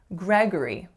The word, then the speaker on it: Gregory: Three syllables. And the second syllable has to reduce to schwa. For this name, I often hear something like Gregory, but we don't say that O or sound, we say G.